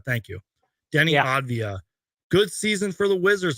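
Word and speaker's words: Avdija: know you mentioned the Denny I I can't pronounce his last name Denny Ava or whatever uh from the Wizards he had a really good season for the Wizards by the way Avia thank you Denny Avia good season for the Wizards man I'm sorry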